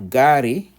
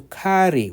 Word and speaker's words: gari: So we have gari, that means car. So gari, as opposed to kari with K, that would be something different with a K.